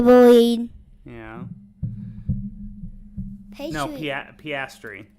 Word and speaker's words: Piastri: Pastry. Is that how you say it? It's Piastri.